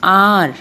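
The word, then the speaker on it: hour: But जब हम इसे pronounce करते हैं, whenever we pronounce this word, H is silent here. We pronounce R.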